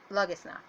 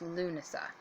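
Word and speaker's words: Lughnasadh: Freyfaxi, or for Wiccans, Lammas or Lugnasa. Lunasa. I'm sorry, I'm pronouncing it wrong. It's Lunasa.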